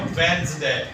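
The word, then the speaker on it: Wednesday: जो सही पर उन्होंने सेशन है वो है वेंड्स दे वेडनेसडे की गलत प्रनंसीएशन है जो आम हो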